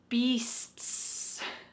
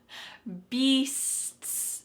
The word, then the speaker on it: beasts: bit more let's go to one final word beasts beasts so let's separate it from the beginning of